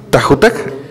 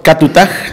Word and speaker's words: Katutaj: Esteban Lafuente, sos demarcación del club Tajutac, ¿lo pronuncié bien? ¿Qué tal, Eduardo? En realidad es Catutaj, que en dialecto wichí hace referencia al pez del Dorado, que significa el tigre del Bermejo.